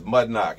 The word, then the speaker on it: mudnoc: It's mudnoc. It's condom spelled backwards, phonetically.